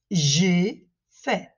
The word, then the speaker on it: j'ai fait: Attention à la différence de prononciation entre le présent, je fais, et entre le passé, j'ai fait.